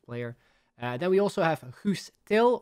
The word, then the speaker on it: Guus Til: Then we also have Guus Til, or Gus Til, if you pronounce it in the English way.